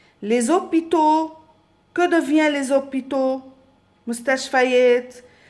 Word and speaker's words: hôpitaux: Parce que il y a ici un H muet. ما فيني نقول le hôpital, E ou O حد بعض, non.